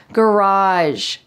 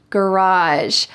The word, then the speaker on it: garage: unusual story garage garage this is the american english pronunciation with hard g sounds garage garage i park my car